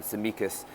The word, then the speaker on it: Tsimikas: pronounced to me um samikas i think the t is silent and that's the mikas very talented boy seen him